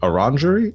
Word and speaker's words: orangery: You make your way to the tea shop, the orangery. Is that how you pronounce it? Okay, make sure I have that right. It's French.